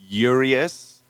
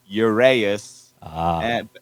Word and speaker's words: URÆUS: on you man tell us how do we pronounce the bad name yeah okay so um we we typically say yurius but uh most of the time people think it's uranus and it's close enough so you know we